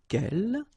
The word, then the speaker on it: quel: So the first thing, the good news is that if you listen carefully, quel, quel, quel, quel, okay, so phonetically you get only one form.